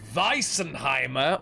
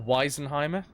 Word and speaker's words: wisenheimer: go oh oh yeah vicen heimer or wisenheimer depending on whether you are German or not or pronoun like you're pronounced in a German sort of way I was on worms